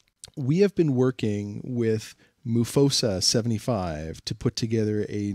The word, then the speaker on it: Mufosa: Can you not say Mufasa? Well, it's spelled M-U-F-O-S-S-A. If it was Mufasa, it would be M-O-U-F-O-S-S-A, wouldn't it? No, it would be M-U, but.